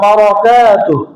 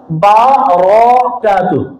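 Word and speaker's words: بركاته: আসসালামু আলাইকুম, সবাই বলেন আসসালামু আলাইকুম ওয়া রাহমাতুল্লাহি ওয়া বারাকাতুহু। বারাকাতু না, বারাকাতুহু, বারাকাতুহু। এটা হচ্ছে বিশুদ্ধ সালাম।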